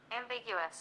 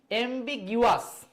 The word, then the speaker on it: ambiguous: এমবিগিউয়াস, এটা কিন্তু জিওয়াস না, ঠিক আছে? জি এর পরে ইউ, এটা গয়ের উচ্চারণ হচ্ছে।